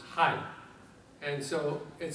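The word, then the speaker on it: hai: in Vietnamese is pronounced High and so it sounds like the American term for hello and so when you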